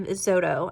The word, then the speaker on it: Xodo: is a paid app, and then you have xodo, I believe is how you pronounce that. It's spelled XODO.